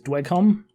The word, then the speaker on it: Dweghom: dragon which i think last time we were mispronouncing is dwecom that's correct and i am playing